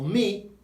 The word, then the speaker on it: mi: If me exists in Spain, in Spanish, it's my, but it's spelt with an I, because remember, the I is an E sound. So mi nombre es, my name is, mi am I.